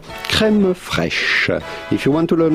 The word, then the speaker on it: crème fraîche: How do you go about pronouncing this with the typical French pronunciation? Crème fraîche. Crème fraîche. But it'd be fine in English or American to say crème fraîche. Crème fraîche. In French again, crème fraîche.